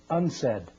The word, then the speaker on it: UNCED: It is pronounced unsaid and perhaps indicating the secret agenda of this meeting.